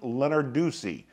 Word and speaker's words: Lenarduzzi: Her name is Sunny Lenarduzzi. Now I know I pronounced it wrong. Think of Lenard with U Z Z I at the end.